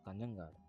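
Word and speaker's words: Kanhangad: In Malayalam they pronounce this town as Kanyangad.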